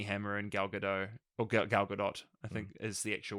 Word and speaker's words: Gal Gadot: he's got army hammer and gal gadot or gal gadot I think is the actual way to pronounce it again he's getting a really good